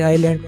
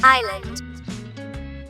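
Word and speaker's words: island: या जलैंड पढ़ते हैं तो इसमें एस जो है वो साइलेंट है एस नहीं पढ़ा जाता ये आईलैंड पढ़ा जाता है फिर भी हम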